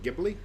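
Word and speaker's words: Ghibli: love everything that studio jibli puts out ji um but it's not a hard G gibli gibli I've heard it both gibli and gibli I've heard it both ways so take your choice pick whatever uh just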